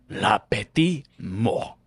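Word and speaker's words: la petite mort: is The Little Death Lati Mo oh wow you said it in French yeah and you actually the very first you didn't pronounce the T which is actually how you're supposed to pronounce it I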